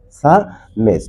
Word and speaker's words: psalmist: So, according to the correct pronunciation, the correct pronunciation of this word will be that SALMST, psalmist.